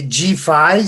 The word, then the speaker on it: GPHY: on dit c'est G5, ça s'écrit GPHY.